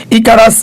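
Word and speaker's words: Icarus: এরপরে আসো ইকারাস বা ইকারুস বা ইকারাস, যাই বলি না কেন, যেভাবে কোনো প্রপার নাউন দুভাবে উচ্চারণ করা যায়, ইকারাস নিয়ে থাকতে পারে হচ্ছে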